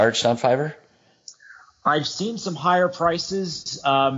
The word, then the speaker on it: Fiverr: It's Fiverr, like the number 5 with an extra R.